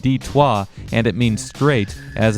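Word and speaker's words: Détroit: the city proper heck Detroit in French is pronounced d-twah and it means straight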